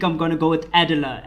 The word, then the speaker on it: Adela: us how to play adella here i think i'm going to go with adela edela is the way to pronounce it he's just going to be